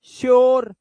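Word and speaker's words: sure: hello are आर ध्यान से देखो अगर किसी वर्ड में यू के बाद आर ई आए तो यू को इसने यू को देखो बना क्या दिया इसने देखो तो इधर ओ सोचो यू को ओ बना दिया इसने अब देखो जैसे यहां ये प्योर है ओ ओ प्योर श्योर प्योर इसलिए बेचारे अनपढ़ लोग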